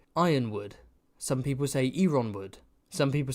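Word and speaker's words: Yronwood: Yeah, people saying they pronounce it ironwood. Uwood. I was a urinewood guy.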